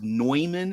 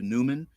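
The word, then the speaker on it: von Neumann: Von noyman uh I I heard it pronounced noyman instead of Newman but um but yeah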